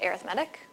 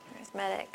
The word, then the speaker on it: arithmetic: arithmetic sequences spelled kind of like arithmetic but pronounced arithmetic arithmetic sequences and this is essentially like a list